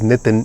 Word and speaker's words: Nitin: My name is Nitin. N-I-T-I-N so it's okay everyone messes up my name it's not an easy name to pronounce.